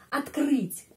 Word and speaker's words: открыть: Открыть. Bagaimana kita membaca kata ini? Открыть. A. Kenapa? Karena penekanannya di sini pada huruf U. Karena itu O dibaca A. Terus открыть.